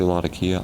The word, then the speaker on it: Latakia: with the latakia there some people say lot of Kia I heard it's Latakia I also heard a lot of kid how do you pronounce